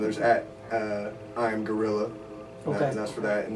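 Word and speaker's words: Guerrilla: by the way yeah it's gorilla spelled g-u-e-r-r-i-l-l-a I am I am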